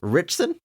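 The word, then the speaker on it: Ritchson: hard time saying this richson rich richon rich rich richon I feel like it should be Richardson it's just Rich it's just taking a syllable richson apologies Alan I'm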